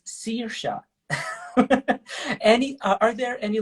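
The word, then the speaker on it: Saoirse: at all for example the name which is spelled like uh s-a-o-i-r-s-e in fact sounds serious any are there any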